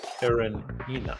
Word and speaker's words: Karenina: Karenina.